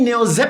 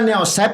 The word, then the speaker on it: Neozep: Yang nanya bacanya biasa Neoseep forte nanya antara Neosep apa Neosep. Neozep kan ada Z-nya. Z berarti Neozep Neozeporte forte forte forte